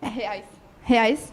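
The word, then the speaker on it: reais: so yes yes very good how do you pronounce it hey hey eyes okay I know why I asked you to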